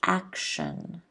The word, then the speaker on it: action: word is action action kind of turns into a sh sound action right so if you look at the phonetic spelling you can see once again that the stress is before the first syllable action can everyone repeat at